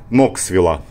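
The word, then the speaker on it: Knoxville: Штат Теннесси, городок Алкоа, Алкоа через Си, Элкоа или Алкоа, но это, грубо говоря, пригород Ноксвилла. Ноксвилл пишется через Кей, но произносится без Кей, Ноксвилл. И рядышком здесь Алкоа.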